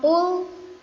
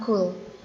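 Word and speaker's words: قل: Yang pertama, ini jangan lupa bahwa ini huruf qaf. Huruf qaf bukan huruf kaf. Jadi dibacanya qul bukan kul.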